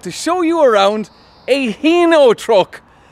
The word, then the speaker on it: Hino: Now, a lot of people would pronounce it Hino in Ireland, but the correct pronunciation is Hino.